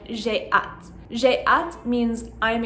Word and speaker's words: j'ai: It is incorrect to write or to say je ai. It's always j'ai.